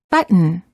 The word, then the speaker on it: button: sound within a word make sure that you hold the tea for example we don't say button or button we say button hold the T as in but and then add an mmm without releasing the tongue from the gum Ridge but mmm similarly don't